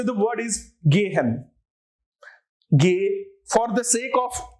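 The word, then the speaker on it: gehen: say the word is gay hen gay for the sake of you know since you are a beginner let me just say it very slowly although that's not exactly how it is pronounced but come on it's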